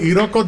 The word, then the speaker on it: Iroko: Iroko, am I saying that right? Iroko Dance Company. Iroko. Now, can you spell it out for us?